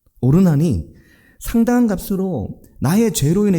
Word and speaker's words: 오르난: 그게 오르난의 말이었습니다. 오르난이 되게 대단한 인물인 거죠. 그 마음이 그 그렇게 연결이 되는 겁니다.이 오르난이 누군지 성경에 잘 설명이 없습니다.요 사람만 나오죠. 근데이 오르난은 오르난이라는 말은 히브리식 발음입니다. 오르난.